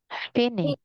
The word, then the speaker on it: finish: Finish. One more. Finish. Oh, yeah. Say finish, finish. Finish. This one ish, ish. Ish. That's right.